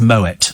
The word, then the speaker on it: Moët: You probably pronounce it Moët and Chandon, don't you? Whereas it's Moet and Chandon. The T is hard.